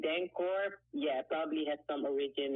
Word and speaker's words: Danko: It's actually like the Dutch way. If you want to pronounce it like the Dutch way, it's Dankoor. But you can Dankoor. also say like Dankoor. That's fine by me as well.